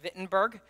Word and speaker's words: Wittenberg: the castle at Wittenberg, which I believe is pronounced Wittenberg in German, the 95 Theses, and that just shook the world.